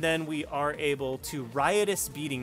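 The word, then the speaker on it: Riotous Beating: we are able to rius beating not righteous beating I've been saying that wrong for so long and I'm probably going to continue to say it wrong I do apologize but it is rius beating um yeah my bad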